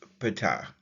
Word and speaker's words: Ptah: His name is pronounced Ptah.